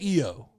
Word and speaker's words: Io: It's Io. So I think I'm saying it right. I think I've been saying Io. Think of old McDonald, and you remember Io Sky.